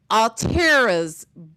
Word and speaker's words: Alteria: Altera's boot prints being on Mr. Christina's neck then. Y'all been saying Altera's name wrong. You don't say the I. Altera.